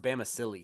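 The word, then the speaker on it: Bamisile: I actually believe it's pronounced Bama Silly too, which is kind Damn.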